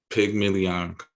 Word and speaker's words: pygmalion: this word called pygmalion comes to my mind. Hmm. I believe you spell it PYG Like million. pigment.